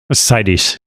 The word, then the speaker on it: Seides: And Ted Seides, did I pronounce it correct? Seides? Seides. Yeah.